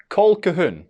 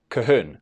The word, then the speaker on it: Colquhoun: For starters, it is not Colquhoun. Typically it's said Colquhoun, though some people leave in the L.